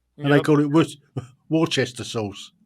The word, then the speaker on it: Worcester: was born in uh how everyone outside of Worcester calls it Worchester Massachusetts they don't they don't say it likely to you know they say a difference yeah we say Worcester but a lot of people say War Chester oh interesting yeah but